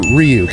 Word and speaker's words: Ryuk: Carnage for Ryuk.